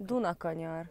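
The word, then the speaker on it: Dunakanyar: Duna Konyar.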